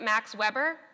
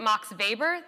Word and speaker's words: Max Weber: So if you pronounce it Max Weber, you are not in the know. If you pronounce it Max Weber, then you are a true bureaucracy scholar and you know what you're talking about.